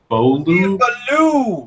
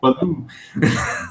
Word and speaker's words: Ballou: Steve Ballou. Ballou. There you go. As the great legend says, it's Steve Ballou.